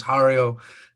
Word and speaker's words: Jario: full name is jario like mario with an h or hario or harry or whatever